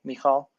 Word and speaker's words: Michal: Am I pronouncing that right, Michal? Yes, you nailed it.